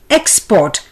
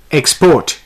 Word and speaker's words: export: the word is export the noun would be export the stress being on ex the verb format would be export here the stress is on the second syllable p-o-r-t the word is